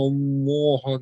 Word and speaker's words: الله: So Inna Allah, the Allah here will be pronounced with pur, with the full mouth.